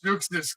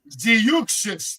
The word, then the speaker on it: Zeuxis: All right, Zeuxis getting in the ring from the CMLL. That's all I'm saying. From San Juan, Puerto Rico, Ziuxis, the correct pronunciation, excuse me.